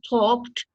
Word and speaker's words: talked: about their lives so John an yes exactly talked and you pronounce with talk talk talk right because the C is I mean voiceless it's aono talk talked talked you know a lot about their lives yeah